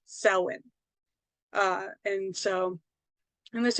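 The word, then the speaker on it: Samhain: any of that stuff because it looks like it's spelled Sam Hayne but it's actually pronounced Selwyn uh and so and this is really where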